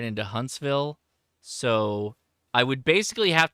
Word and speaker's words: Huntsville: It's pronounced Huntsville.